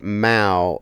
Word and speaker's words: Mayo: Mayo is usually pronounced Mao as a cat noise.